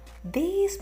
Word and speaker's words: these: These people, orang-orang ini. Kalau satu pakai this, this, tapi kalau banyak these, these agak panjang bacanya.